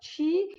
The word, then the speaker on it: qi: A gente escreve Qi, mas na verdade fala Chi.